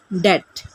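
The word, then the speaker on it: debt: कहेंगे आई am under डेट। ये डेप्ट नहीं है, बी यहाँ पर साइलेंट है।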